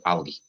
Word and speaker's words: algae: Seaweed is the biggest kind of algae. Be careful of the spelling there and the pronunciation.